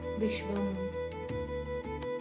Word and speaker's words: விஷ்வம்: முதல் நாமம் விஷ்வம். இங்க ஷ எஸ்ஹச் சவுண்ட்ல சொல்லணும். ஷ ஷ விஷ்வம் விஷ்வம் விஷ்வம்னா பிரபஞ்சமாய் விரிந்திருப்பவர்னு அர்த்தம்.